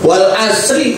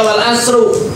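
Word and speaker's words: وَالْعَصْرِ: Wadah wadahri di sini katanya wal asri dibacanya wal asri majrur. Enggak boleh dibaca wal asru domah. Enggak boleh dibaca wal asra karena waunya di sini wau qasam, wau sumpah.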